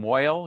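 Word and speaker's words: mohel: the uh the circumcision is called a Mel in yish pronunciation Mo you may have heard that pronunciation more than Mel um and uh he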